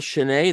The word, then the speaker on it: Schnee: fun believe I'm not's get started so Chen that's the proper pronunciation of your name correct sh yeah okay